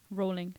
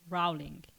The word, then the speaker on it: Rowling: are you mad she it rhymes with bowling when she says it therefore it's rolling not rowling it's not bowling is it it's only in the states that they say rowling that's what i literally